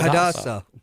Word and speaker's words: Hadassah: I am a member of the Tarot Gods Hadassah, Society. I think is how you say it. Yeah, Hadassah.